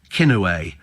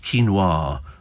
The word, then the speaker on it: quinoa: when I first saw this stuff it was kinway and somebody said it's pronounced quoir and I went what is it they went